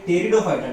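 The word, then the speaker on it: Pteridophyta: त्यामध्ये पहिली असते डिव्हिजन थॅलोफायटा, त्याच्यानंतरची डिव्हिजन ब्रायोफायटा आणि त्याच्यानंतरची डिव्हिजन असते टेरिडोफायटा. टेरिडोफायटाचं स्पेलिंग पी पासून सुरुवात होईल, पी सायलेंट असते, टेरिडोफायटा.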